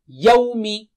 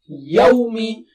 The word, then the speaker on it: يَوْمِ: Yawmi, yawmi, yawmi, yawmi.